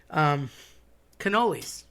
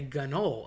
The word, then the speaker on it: cannoli: I always said cannoli, always heard cannoli, but my buddies that are from northern Jersey and New York area say ganol. And again, that C turns into a G. No G's involved, nothing about it, not a thing, but they will say that.